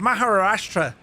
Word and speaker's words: Maharashtra: So, you're departing out of Pune in a place called Maharashtra in India. Jess, I did well with that pronunciation, didn't I?